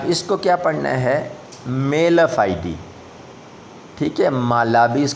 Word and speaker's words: mala fide: فائیڈ پڑھ سکتے ہیں، لیکن بہتر یہی ہے اس کو کیا پڑھنا ہے؟ میلا فائیڈی۔ اب دیکھیں میلا فائیڈی، اس کا آپ کے سامنے تلفظ جو ہے لکھا ہوا نیچے نظر آ رہا ہے، دو اس کے پروننسیشن لکھے ہوئے ہیں، یا مالا فیڈے یا میلا فائیڈی، ٹھیک ہے۔ میلا فائیڈی بہتر ہے۔ اٹ از a letter